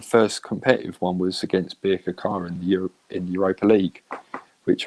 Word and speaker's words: Birkirkara: I said, "How do you pronounce the?" I got Birkirkara right.